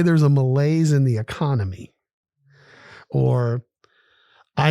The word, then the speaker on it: malaise: day we do it's from the French malaise two syllables m-a-l-a-i-s-e it is a